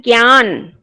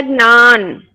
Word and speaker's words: ज्ञान: भी है शब्द ज्ञान, लेकिन हम हिंदी में उसका उच्चारण करते हैं ज्ञान और गुजराती में उच्चारण होता है ज्ञान।